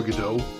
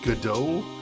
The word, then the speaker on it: Godot: hear his name pronounced i'm pretty sure the t is silent i believe so i believe so i'm basically basing it on the uh stage play waiting for godot because i think that's how you pronounce the name in that it's usually